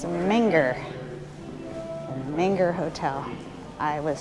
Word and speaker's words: Menger Hotel: How do you pronounce the hotel? Menger. Menger. Yes. Okay. Thank you. All right, it's Menger. Menger Hotel.